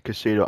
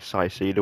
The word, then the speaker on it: Caicedo: I finally found out how to say his name. It's Caicedo. I was saying like Caicedo or something.